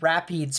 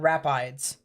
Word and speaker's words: Rapides: uh in a rap i believe it's actually pronounced rapids parish uh not rapides so rapides parish you